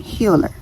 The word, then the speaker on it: healHER: of my healer series it's gonna be spelled differently when you see it it's going to be spelled like healed in her but I'm putting it together and I am saying healer okay it's my own